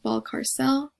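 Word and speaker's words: Balcárcel: county college her nan's last name is pronounced ball carcel like the main character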